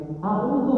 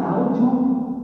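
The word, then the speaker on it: أعوذ: Baca taut auzubillahiminasyaitanirrajim. Audu bukan azu gitu kan.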